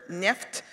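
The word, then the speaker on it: нефть: rhyme there the oil the word the oil they use Russian word for it sniffed rhymes with shaft so the song actually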